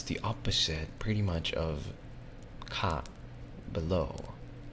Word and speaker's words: 下: opposite, pretty much, of ka, below. Right? So basically it's like below the ground or above the ground. Does that make sense? And this one reads as ka or ge.